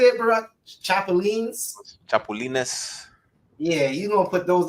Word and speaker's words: chapulines: Chapulines.